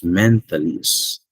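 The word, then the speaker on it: mentalese: Yeah, it's mentalist. So when we talk about the mentalist, no, it's a language of thought.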